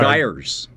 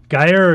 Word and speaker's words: gyre: He's with the five, is it pronounced Gyres, Stiv? Depends on where you are. Gyres. Gyre or Gyre will work. Which is English and which is American? American is Gyre, for sure.